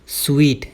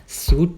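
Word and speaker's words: suite: इसे बहुत सारे लोग सूट प्रोनाउंस करते हैं क्योंकि इसकी स्पेलिंग देखने में वैसे ही लगती है, लेकिन ध्यान देना इसके एंड में ई आएगा, और जो स्वीट होता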